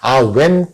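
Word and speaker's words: און: AVN이라고 해서 아벤이라는 말인데, 이게 아웬 또는 아벤 이렇게 발음이 돼요.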